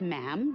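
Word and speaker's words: ma'am: um and after that it's just mam rhymes with jim and it's always a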